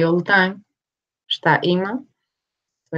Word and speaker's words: šta ima: Šta ima?